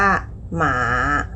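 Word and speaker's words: 马: คำ นี้ นะ คะ คำ ว่า ม้า ออก เสียง ว่า หมา หมา วรรณยุก เสียง ที่ 3 ค่ะ เป็น เสียง ลึก ๆ นะ คะ พอ ได้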